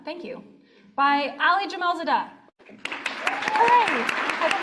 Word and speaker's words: Jamalzadeh: The bronze quill goes to Ali Jamalzadeh, Lucid Window Relay. How do I say that last name? Jamalzadeh. Thank you. By Ali Jamalzadeh. Hooray! I did not pronounce that.